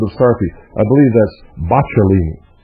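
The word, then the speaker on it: Boccalini: stari I believe that's bachini I believe that's the correct pronunciation trano bachini A Venetian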